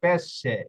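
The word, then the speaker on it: pesce: ই বোকালে থাকে ওকে এখানে দেখুন পেশে লিখতে গিয়ে এস এর পরে সি এর পরে এ রয়েছে যার কারণে এটার উচ্চারণ স এর মত হইছে এটা কি পেশে তারপরে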